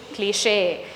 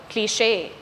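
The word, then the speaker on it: cliché: Cliche. The stress in this word falls on the second syllable. Cliche.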